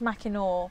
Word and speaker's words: Mackinac: in mikono oh yeah Mackinac man cannot bridge Mackinac pronounce Mackinac so it's the Mackinac Bridge that's where the trolls